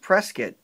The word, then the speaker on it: Prescott: prescott arizona that's correct matt and yes it's pronounced prescott good job there how did you know well